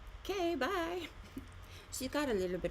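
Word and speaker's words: K.Bai: And her name is spelled K. Period. B A I like K. Bye.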